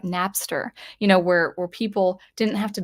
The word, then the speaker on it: Napster: I think I said Nabster. I think it's Napster. Is it spelled with a P?